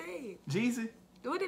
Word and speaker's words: Jeezy: Jeezy.